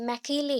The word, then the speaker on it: Macaulay: एक्चुअली ये मैकेले है, that is क में ऐ की मात्रा आता है, ठीक है। सो मैकेले, दैट इज हम वैसा तो नहीं बोल सकते, एक साथ मैकेले बोल देते हैं।